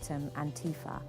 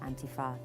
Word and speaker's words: Antifa: But definitely when we were looking at Antifa and Antifa, that's a tricky one because the stress is all over the place.